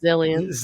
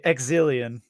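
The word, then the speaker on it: Xilien: Let's say in the English dub they say Exilion. I was like, I don't think that's how you say it. Should just be.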